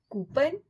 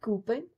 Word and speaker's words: coupon: Coupon? No. It's not coupon, it's coupon. Coupon.